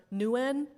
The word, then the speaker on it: Nguyen: They've kind of changed it now where they have multi-yllable words, but um, most Vietnamese words are one syllable. So, which is why I prefer win over newen, but honestly, I don't